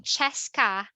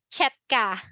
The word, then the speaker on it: Chesca: to mispronounce the SST instead of saying chesca they pronounce this as chepka the S sounds like letter T yeah because some of